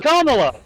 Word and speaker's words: Kamala: pronounce her name properly. Her She's name is a- Kamala.